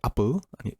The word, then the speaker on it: Apple: sprostowanie To znaczy sprostowanie Dzięki za wytłumaczenie tego że Apple czyta się Apple iPod bo to nie jest jabłko ale dzięki będę się